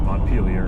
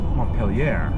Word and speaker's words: Montpelier: I was going up to the Canadian city of Montpelier, and I pronounced it Montpelier, and the customs agent at the border corrected me, "You mean Montpelier?"